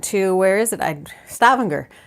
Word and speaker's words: Stavanger: where is it I'd Stavanger Stavanger actually is how you say these so the G's on the Norwegian names are hard so somewhere something a